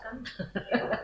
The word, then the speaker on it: Kuhn: Di sini akan kita bahas yaitu yang pertama dari apa yang dikatakan oleh Thomas Kuhn atau Thomas Kahn bacanya ya, gitu ya.